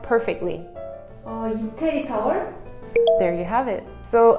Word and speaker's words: 이태리 타월: So this Italy towel, oh wait, how is it pronounced perfectly? 이태리 타월?